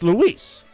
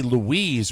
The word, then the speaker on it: Luis: Luis Munoz has officially exited. Luis, or is it Luis? Luis. It's Luis. It wouldn't be Louise, Rob.